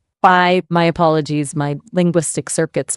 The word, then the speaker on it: Phi: It's your buddy Phi, who you keep pronouncing Fee. I told you don't use the Greek pronunciation, use the American version. Right, right. Fi, my apologies.